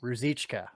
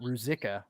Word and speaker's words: Rosica: there we go yes there's a ch at the end a ch pronunciation yes rosica so yeah not rusika like i said earlier so forgive me